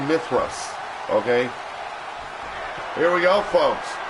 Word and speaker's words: Mithras: It is pronounced Mithras in the history books or in the mythological stories. I will say Mithras, okay?